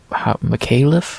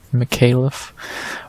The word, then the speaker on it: Micallef: we head up 15 pounds to see Jonathan Micallef, I think that's how you say it, Micallef, versus Kevin Jousset.